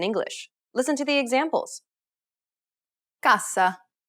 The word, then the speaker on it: cassa: Finally, whenever you have a double S, you need to say it with more emphasis. Pronounce it for longer than you typically would in English. Listen to the examples. Cassa.